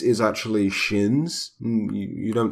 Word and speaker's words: Qin: sighs shin sighs see I looked up the pronunciation apparently quinn's is actually shins mmm you don't say how I've been saying